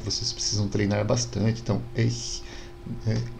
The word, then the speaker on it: ich: Tiulidaman, que é o som do CH que a gente reconhece então na palavra ich, né? Ich, eu, em alemão. Esse som, né, esse ich, a gente não tem no português, é